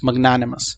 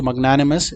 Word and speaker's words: magnanimous: सो MAGNANIMOUS, magnanimous. So magnanimous is the correct word and the correct pronunciation, magnanimous, ठीक है।